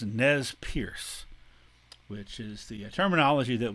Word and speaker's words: Nez Perce: And this group, the Nez Percés, another French word, Nez Percés, which means pierced noses, or because it's French, noses pierced, pronounced by Americans as Nez Perce, which is the terminology